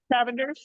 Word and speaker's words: Cavender's: so getting back to the how do you pronounce that seasoning? Cavendar? Cavendar? Cavenders?